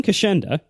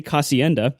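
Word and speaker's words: Kocienda: It's Ken Kashenda, and it's spelled, if you didn't know how anything was pronounced, you might say Casienda, like I did, but that is not at all how it's said. It's pronounced Kashenda, so sorry, Ken.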